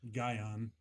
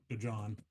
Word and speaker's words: Gajan: For those who did watch the selection show, it's Gion, not Gon.